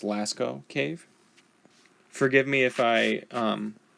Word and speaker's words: Lascaux: little outline of the cave I think it's pronounced Lascaux cave forgive me if I mispronounce some of